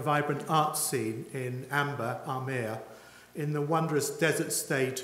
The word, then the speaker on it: Amber: It's spelt Amber, but it's called Amir.